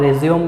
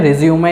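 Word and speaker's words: résumé: सीवी का मतलब होता है करिकुलम विटेई, जिसको आप रिज्यूम भी बोलते हैं, ठीक है। रिज्यूमे या रिज्यूम दोनों उसके प्रोनाउंसिएशन है।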